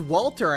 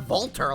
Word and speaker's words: Walter: Oh, they actually pronounced it as Walter instead of Volter, like how they brute forced that in Cold Steel. I guess someone finally decided, no, it's Walter.